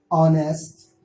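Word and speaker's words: honest: उसके बाद ओ आता है तो उम्मन ये साइलेंट हो जाता है, हमेशा नहीं। ऐसे में क्या होता है, आर, ऑनेस्ट, honoured, HEIR, higher.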